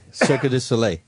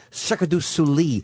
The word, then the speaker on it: Cirque du Soleil: Tonight I'm going to see the production of Sarcana, which is made by Cirque du Soleil.